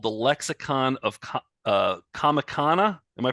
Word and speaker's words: Comicana: wrote a book called the Lexicon of uh comicana am I pronouncing that correct oh yes are you guys